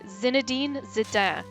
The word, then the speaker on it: Zinedine Zidane: His name is pronounced, for the record, Zinedine Zidane. Zinedine Zidane? In general, you leave off the last vowel.